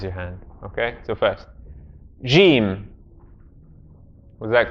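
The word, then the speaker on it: جيم: Jiim is the correct way. Jiim. Jiim. Everyone say the incorrect with me so that we all understand. Jiim. Jiim. Jiim is incorrect. The correct way is Jiim. Jiim. This is it's a stop in kind of linguistic terminology.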